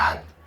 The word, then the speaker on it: 한: 발음이 한이라고 하자 한 어 특히이 아시아 계열에서이 한이라는 감정을 많이 가지고 있는데이 한을 어떻게 영어로 표현할까 했을 때 표현이 안 되는 거예요. 그래서 등재를 했습니다. 그냥 발음 그대로 영어 사전에 등재해라.